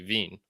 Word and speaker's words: Wien: Now, they might have trouble if she went to Austria, for example, or something, because they don't call it Vienna there. It'd be Wien. I'm pretty sure it'd be Wien, and that's one of